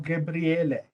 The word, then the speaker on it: Gabriele: Gabriel or Gabriele? Dr. Gabriel, right? Gabriele. Gabriele. Yes. If you So go, if you go by the original pronunciation, it's Gabriele. But okay.